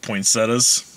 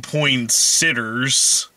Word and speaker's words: poinsettias: It's like he also grows poinsettias for Christmas, and it's hilarious because he pronounces it wrong each and every time. Yeah. Got some of them poinsitters, poinsitters, poinsiders.